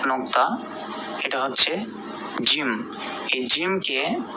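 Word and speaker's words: ج: জিমটি উচ্চারণ হবে জিহ্বার মধ্যভাগ, তার বরাবর ঠিক উপরে তালুর সঙ্গে লাগিয়ে, জিম জিম।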